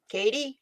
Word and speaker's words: Katie: Is it Katie? I've Katie. been saying it right. Have I been saying it right? Yep, Katie. Okay.